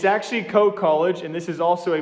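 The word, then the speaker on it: Coe College: freaking day is co e college it's actually co college and this is also a midwest uh slash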